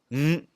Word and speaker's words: 五: 而五呢，有点类似一个鼻音，就是不需要把没有 W 那个发音，就是嗯嗯嗯。